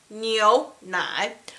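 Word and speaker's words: 牛奶: carefully no no I kneel not both syllables you have to use your nose kneel nah I kneel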